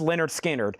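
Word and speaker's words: Lynyrd Skynyrd: Also available is Leonard Skard's pronounced Leonard Skard.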